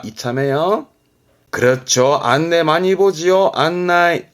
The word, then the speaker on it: 案内: 안나이, 안나이. 가네. 그래서 발음이 가나이, 가나이.